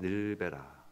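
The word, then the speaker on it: נִלְבְּנָה: 벽돌을 만들자라고 하죠 근데 그 원어는 발음이 닐베라입니다 닐베라 발음되는 거야이 말이죠 일베라이 말의 베트남 늘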